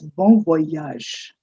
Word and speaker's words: bon voyage: all these days with saying uh bon voyage or something. No, it's bon voyage.